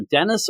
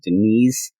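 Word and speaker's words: Deniz: number one written by either Dennis or Denise Camp I know that Gabe sus gab said it's definitely Denise uh and it looks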